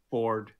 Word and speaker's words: Fjord: Ford. Ford. Sorry, Ford. Or Fjord. It's written Fjord, but he pronounces it Ford.